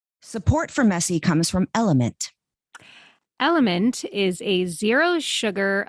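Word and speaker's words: LMNT: And don't be confused cuz element is spelled L M N T.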